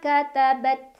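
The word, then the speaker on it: كَتَبَتْ: Mimma katabat. Nah, ta ini punya sifat syiddah, suaranya tertahan dulu ya. Baru setelah itu ada hamesnya, jadi hamesnya atau anginnya keluar belakangan ya.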